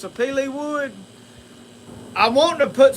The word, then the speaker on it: sapele: That's how you pronounce sapele wood.